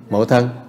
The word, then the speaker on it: mẫu thân: Lễ thân mẫu, mẫu thân, lễ mẫu thân, mẫu thân. If you don't pronounce it properly, it could have a different meaning in Vietnamese.